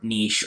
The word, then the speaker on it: niche: is try to find your niche or niche however you want to pronounce that not an english major